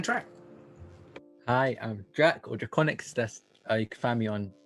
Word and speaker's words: Drakoniques: People pronounce it Draconiques, and I guess that technically is how you normally pronounce it, but no. I'm doing a bunch of stuff.